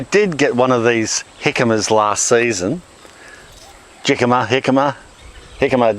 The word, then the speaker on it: jicama: And we're going to plant some jicama. Well, that's how it's pronounced, jicama, but it's actually spelt jicama.